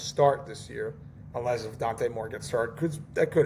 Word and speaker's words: Dante Moore: I think that's how you say it, Dante Moore? Yeah, it's Dante Moore.